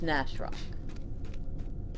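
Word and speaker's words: Gnash Rock: don't know if that's gas rock or ganache rock nash rock okay nash rock because gnash is pronounced nash so it's nash rock all right so we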